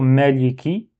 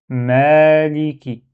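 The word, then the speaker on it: مَالِكِ: Donc le premier mot c'est maliki. Ici on doit prolonger un petit peu. Donc c'est ça, c'est comme un alif. Donc il faut prolonger, faut pas dire maliki, faut dire maliki.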